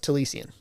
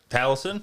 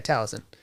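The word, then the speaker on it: Taliesin: I picked selan Murphy or uh tiian is that how you say his name from critical role talison yeah talison I don't know why I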